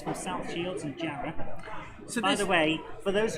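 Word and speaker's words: Jarrow: the the TR R from South Shields and jar by the way for those of you who who aren't familiar it's say it's spelled jro but it's pronounced jar and W is an A in East the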